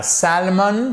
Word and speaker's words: salmon: Et alors, là aussi, c'est pas salmon, c'est salmon. Salmon. Vous voyez, salmon. Vous n'avez pas le L qui est prononcé. Vous le voyez à l'écrit, mais il ne se prononce pas.